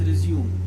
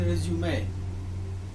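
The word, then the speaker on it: résumé: It is some people mispronounce it as resume. It's not resume, it's actually resume.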